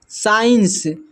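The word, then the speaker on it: science: यहां पर लिखा हुआ है साइंस। साइंस में जो है सी साइलेंट है।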